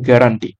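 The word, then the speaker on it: guarantee: এখান থেকে option C উচ্চারণটা ভালো করে মনে রাখবে সেটা হচ্ছে কি গুয়ার ঠিক আছে কেটে গুয়ার এন্টি একচু উচারণ কি গুয়ার এন্টি ওকে এইভাবে ভাবে মনে রাখবে আর গয়ারেন্টির কথার তোমরা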